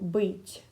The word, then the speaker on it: быть: But if you had this little soft sign after it, it would be Tya, Tya. So быть, быть, быть.